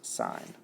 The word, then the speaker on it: sin: S is always abbreviated s n but it's pronounced sign so if I want to find the sign